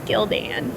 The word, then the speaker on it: Gildan: true story bro and they combine the names together so that's how you know how to pronounce it it's Gildan I always think of Lieutenant